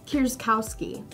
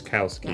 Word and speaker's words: Kowski: before but tell us how do you say your last name Kowski Kowski yes very polish right but we can